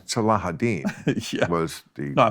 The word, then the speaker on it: Salahuddin: I used to call them Saladin, and then I realized, then I heard it, Salahuddin Yeah.